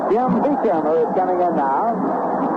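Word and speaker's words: Beauchamp: He spells it B-E-A-U-C-H-A-M-T, and he pronounces it Beecham.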